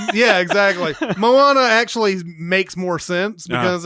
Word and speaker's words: Moana: like like in the Thanksgiving week is it Mona or Moana I've looked at three trailers and they never once pronounced her name I thought he said Moana